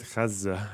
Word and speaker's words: Gaza: uh finally finish practicing how to say it properly in the Arabic way once she gets a hold of the uh k I even said it wrong there cuz my Zed was too short anyway yeah [ __